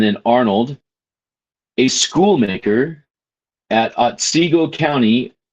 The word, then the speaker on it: Otsego: We no longer wonder what a wretched like Stephen Arnold, Stephen is spelled with a PH, and then Arnold, a schoolmaker at Otsego County, Otsego County.